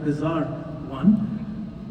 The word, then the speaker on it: BZR1: what we know as bzr1 is pronounced at bizar one so bizar 1 is